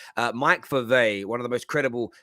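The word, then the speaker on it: Mike Verweij: it through google translate it's pronounced mike for a verve sorry there it is i was i was saying it very differently uh mike fave one of the most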